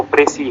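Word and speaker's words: précis: प्रेसी, इट्स जो pronunciation है वो प्रेसी है, तो ये फोनीम्स और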